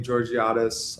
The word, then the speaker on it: Georgiades: My name is Georgiatis.